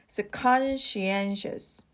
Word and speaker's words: conscientious: pronounce so let's practice the stress is on the first syllable and the third one conscientious conscientious conscientious all right